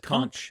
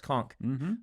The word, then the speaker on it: conch: there's a bunch of uh con I always pronounced it wrong I said conch but it's conch um that had already been harvested and he